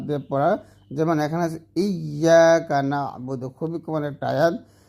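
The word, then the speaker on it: إِيَّاكَ نَعْبُدُ: এমনইভাবে তাসদিদ যুক্ত হরফকে তাসদিদ বাদ দিয়ে পড়া, যেমন এখানে আছে ইয়াকা না'বুদু, খুবই কমন একটা আয়াত। তো এখানে আমরা ইয়া না বলে ইয়াকা না'বুদু বা আয়াকা না'বুদু এরকম পড়ি।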